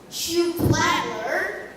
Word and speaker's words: Schuhplattler: Schuhplattler. Schuhplattler is spelled as S-E-H-U.